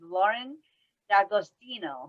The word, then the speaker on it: Lauren D'Agostino: and our guest here today with us is lauren d'agostino am i saying it right yeah good job